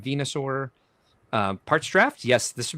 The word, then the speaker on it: Venusaur: E Platypus Unum says Venusaur. That's apparently I've been pronouncing it wrong. Venusaur.